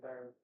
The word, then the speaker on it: Byrd: You don't like Bird? You're not saying it right. It is Bird. It's Bird. Bird.